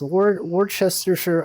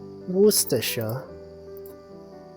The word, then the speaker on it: Worcestershire: Worcestershire. I never know how to pronounce this.